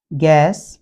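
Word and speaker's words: guess: यू के बाद यदि कोई वावेल आ जाता है तो ये साइलेंट हो जाता है, जैसे गाइड, गैस और गार्ड।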